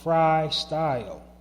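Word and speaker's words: Frii Style: of the Narrative Podcast is a business called Fry Style. And Fry Style isn't spelled for branding purposes. It's not spelled F-R-Y. It's spelled F-R-I-I, style.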